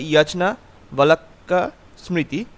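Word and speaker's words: যাজ্ঞবল্ক্য স্মৃতি: বালাকিয়া স্মৃতি ঠিক আছে উচ্চারণটা হবে ইয়াচনা বালাক্কা স্মৃতি গ্রন্থটি বিষয়বস্তু কি তো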